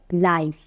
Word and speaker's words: live: এল আই ভি লিভ এখন যদি বলি এর আই আরেকটা উচ্চারণ হয় লাইফ লাইফ অর্থ বুঝায় সরাসরি